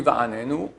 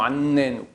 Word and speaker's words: va'anenu: Attention, quand on dit va'anenu, il faut prononcer va'anenu, le N normal. Pas avec un accent, annenu.